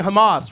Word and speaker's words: Hamas: They were like, "Why do you keep saying Hamas, right? It's not pronounced Hamas, it's hamas, back of the throat H."